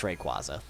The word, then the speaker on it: Rayquaza: Are we about to have a Rayquaza again? Bruh, I don't think I'll ever start calling it Rayquaza. Yeah. It's Rayquaza.